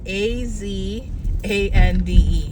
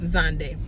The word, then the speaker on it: Zande: born into is zande AZ a n d e yes it's not a zande it's just zande so zande is not